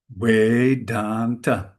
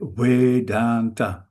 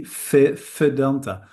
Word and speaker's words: Vedanta: The the V is pronounced softly, gently, something between a V and a W. That's why we say way. In Holland, we have a quite strong fee. We say fe fedanta.